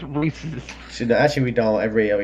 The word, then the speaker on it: Reese's: People tend to pronounce Reese's it. one of two ways, either Reese's or Reese's, and 2. The popular chocolate Reese's brand peanut is, butter in fact, pronounced Reese's, Apparently. named after its founder, Helen Burnett Reese.